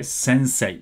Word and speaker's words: sensei: you said sensei okay this is how we write as well in Japanese say mmm say ii right but when you pronounce it it's okay to say since a long vowel sensor when you pronounce